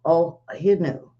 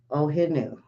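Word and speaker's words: O'ahu: had a few over in Hawaii w o ohu ohu I guess that's how it's pronounced 2.6 uh that's one we haven't heard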